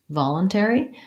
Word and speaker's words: voluntary: let's look at voluntary voluntary in this word we go back to first syllable stress ball on four syllables all together so long short short and again we have the vowel ah we have the schwa fallen tear and in this case the ary is the air diphthong I'm going to write